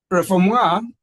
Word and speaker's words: refoulement: Refoulement is a French word, although it's written reformant, but refoulement, that's how they pronounce it.